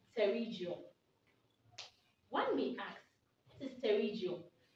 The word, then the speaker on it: Pterygium: the right pronunciation is terrigio the p is silent so it's pronounced terrigio one big axe is